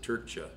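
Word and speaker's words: Trca: I believe he pronounces it Turcha. They're a little short on vowels, I always say. So they, T-R-C-A, right?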